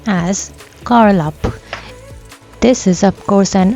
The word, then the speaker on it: Galup: Just recently, as of 2025, the official name for Lake Monger has been changed to GALUP, which is pronounced as Karlup.